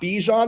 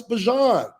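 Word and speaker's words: Bijan: Hell, we just found out this year we've been calling Bjon Robinson's name wrong for the last however many years. Like it's not Bejon, it's Bjon.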